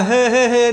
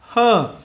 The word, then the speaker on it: her: Lúc này các bạn đừng đọc là hê hê hê này nha. Her, her, her father, the, lúc này lại là âm này.